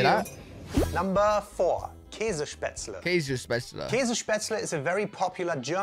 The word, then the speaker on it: Käsespätzle: I want to try to pronounce it before. Kazispatzl.